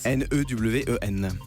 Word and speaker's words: Newen: N-E-W-E-N. N-E-W-E-N. Newen. C'est de l'anglais.